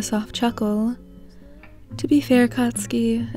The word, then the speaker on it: Katsuki: he cut you off katsuki he unsatisfied i like the way you say it putting emphasis on the ending syllables it's you sat up